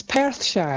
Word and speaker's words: Perthshire: It's Perthshire, right? Yes, Perthshire. Woohoo! I get people complaining about my pronunciation of Scottish town names.